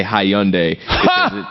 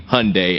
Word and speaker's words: Hyundai: a mispronunciation to say hi yundai the correct way to pronounce Hyundai is simply Hyundai as in Sunday it really isn't much